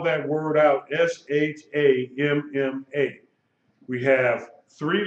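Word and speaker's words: שַׁמָּה: hey and it's pronounced sham ma okay notice that the final head side remember hey when hey is at the end of the word it is silent unless it has a dot in it called a mapping not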